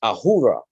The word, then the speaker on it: Ahura: uh shift you know and and a little syllable shift but it's it's in uh in persian it's ahura a-h-u-r-a right and it's asura in uh vedic